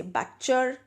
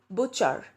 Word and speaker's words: butcher: sure you say butcher well the actual pronunciation for this is butcher note that silent T it's butcher boo as in the way you see PU T put the same way it's bu here so the way you pronounce PU in beauty the same thing you would pronounce bu here so that'll be boo boo char okay and looking at